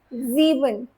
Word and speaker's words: sieben: That's why you say it's fear, it's sieben, not sieben.